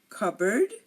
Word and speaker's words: cupboard: example cou we have cupboard and now we have raspberry and receipt so coup cupboard raspberry receipt if you notice I did not pronounce this p in any of these words and these are just